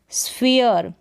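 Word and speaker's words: sphere: जो पहला यानी कि आर से पहले जो आ रहा है इसका उच्चारण ईय होता है। जैसे कि यहाँ पर देखें, स्फीयर, क्या है?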